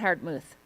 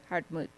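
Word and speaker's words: Hartmuth: I'm also now going to pronounce Katarina Hartmoot without the th at the end according to someone. So, Katerina Hartmoot. No th not hard mouth. Hardmuth.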